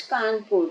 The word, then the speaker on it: Kanpur: अब हर जगह ये कौन पोरे है कौन पोरे मुझे उसका सही प्रोनाउंसिएशन मालूम नहीं लेकिन अब मैंने इसको गूगल से भी आज ढूंढ लिया है। यह कानपुर ही है।